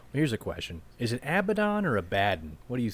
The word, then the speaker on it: Abaddon: But no, I think phonetically, I think it is Abaddon. Right. But you know what? I'm gonna say Abaddon because I like the way it rolls off the tongue better.